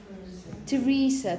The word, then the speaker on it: Theresa: now it's Antony Antony Esther in this case Teresa Teresa Teresa Teresa have you if you listen